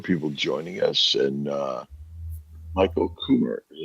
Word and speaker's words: Kummer: Well, we We got also a number of people joining us, and Michael Kummer. Is that how you pronounce it, Michael? That's how I pronounce it, yes.